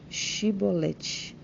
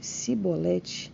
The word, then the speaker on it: Chibolete: Se respondesse que não, os homens de Gileade lhe diziam: "Então diga Chibolete." Se ele dissesse cibolete, não podendo pronunciar corretamente a palavra, eles o agarravam e matavam nos vãos do Jordão.